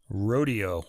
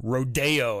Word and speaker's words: rodeo: Anyway, track 16, Hoedown, from the ballet Rodeo, or Rodeo as they pronounce it. It's rodeo, but people pronounce it Rodeo because they're pretentious, I guess.